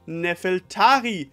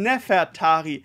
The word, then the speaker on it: Nefertari: hatte wurde der Name nefeltari romanisiert und zwar nicht den nefeltari sondern Nefertari also das L wird zu einem eh in der Aussprache und dieses Konzept hatten